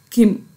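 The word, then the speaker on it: 김: Here I have written Gim, but I am pronouncing as Kim.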